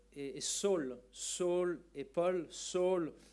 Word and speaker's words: Saul: Saul, ou on devrait peut-être plutôt le prononcer Shaoul, c'était son nom hébreu.